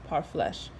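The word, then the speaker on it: parfleche: their food and clothing part flesh pronounced part flesh were made from hides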